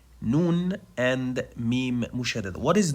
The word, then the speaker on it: noon: Okay, so simply, noon is pronounced just by letting the tip of the tongue touch the gum behind the upper incisors.